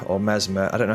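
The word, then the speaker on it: Messmer: how to pronounce it it's spelled m SS m e r so that would say to me in like an English accent as mesma but it might be pronounced Mesmer I don't know what's this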